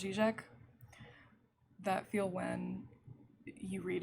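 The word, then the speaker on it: Žižek: obviously i know uh zizek i'm pretty sure that's pronounced g-shack that feel when you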